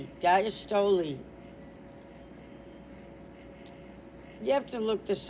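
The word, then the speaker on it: diastole: And then they they say pronounced and they go d i hyphen as hyphen tow like a tow truck and Lee. So they're saying it. It's the dastol is pronounced diastoly. Diastoli you have to look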